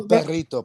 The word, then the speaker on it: perrito: I am a perrito, Papa. I'm a perrito. It sounded like you growled when you said it. That's because he's a perrito. No, Tyler, you gotta roll your R's, bro. Perrito.